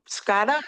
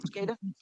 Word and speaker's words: SCADA: Scattera, is that how you say it? Scattera system. SCADA. SCADA system.